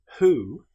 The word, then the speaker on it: who: However, with the word who, this is pronounced as if the W didn't exist.